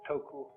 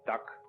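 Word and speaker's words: 德: this word death uh the japanese pronounce it toku these cantonese duck and the northern mandarins approximately and uh in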